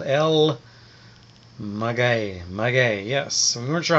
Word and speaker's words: El Maguey: was our waiter and he said it was el magay el magay so there we go we went to alma